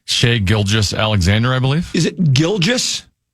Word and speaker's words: Shai Gilgeous-Alexander: Do you know how it's pronounced? Shai Gilgeous-Alexander, I believe.